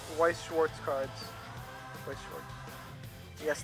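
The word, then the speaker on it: Weiß Schwarz: Weiss Schwarz. Yes, the B, the beta symbol is pronounced as an S in this case, I guess. So, I said I had to get into Weiss Schwarz, and look at this, Weiss Schwarz.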